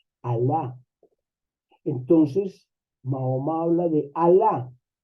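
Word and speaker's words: Allah: Dios ese el Dios es al y la en árabe al y la cuando se junta se pronuncia al el Dios alá Entonces Mahoma habla de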